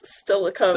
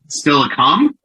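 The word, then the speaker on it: Steilacoom: still a ah yes it's still a coke there we go that's what he said right you said stella coomb still a calm you said stella comes and it's silicon it's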